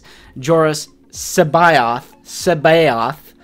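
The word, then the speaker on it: C'baoth: in the comments that is how Timothy Zan pronounces is joris Sao Sao it's not kabo look it up it's like SEO yeah I I've always said Sao and it looks like Sabo to me but I guess I got to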